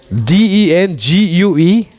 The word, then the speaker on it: dengue: No. Dengue is the pronunciation when it comes to pronounce in English.